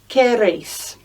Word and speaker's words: queréis: Vosotros queréis. And ellos quieren. And there's that I back. Just for vosotros, listen to the pronunciation, queréis. And all the way through, remember, QU in Espanol make a K sound.